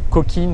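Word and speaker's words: Cokin: 121 chez la marque coquine ou coquin à vous de voir comment vous préférez prononcer et c'est enfin il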